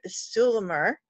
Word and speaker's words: Stuhlemmer: super excited to be here at with sue Lamar did I say it right you did okay